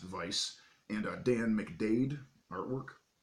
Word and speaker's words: Weiss: It is by Zhe Chun, as well as Weiss, W-E-I-S-S, which is pronounced Vice, and Dan McDade artwork.